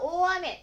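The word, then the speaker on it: 大雨: 台風が多いですから、その時は大雨、たくさん雨が降ります。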